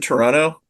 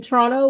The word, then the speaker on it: Toronto: But no, like everybody who was clearly not from Toronto was saying it wrong, right? Was like, "Oh no. Oh no. Do not There's no second tea, guys.